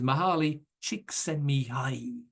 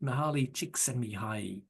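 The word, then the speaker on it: Csikszentmihalyi: off saying his name this is how I do it is mahali chicki that's how you say it Mahal chicki uh so again if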